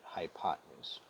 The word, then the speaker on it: hypotenuse: can actually spell this word but you're gonna pronounce it hypotenuse hypotenuse has two characteristics it's the longest side